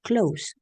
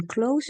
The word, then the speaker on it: close: in two different ways when close works as an adjective we pronounce it with an S close enclosed means like near like the church is close to the supermarket so when close means Circa or near we pronounce it close with an S however when close is working as a verb we pronounce this as as a z close closed I closed the door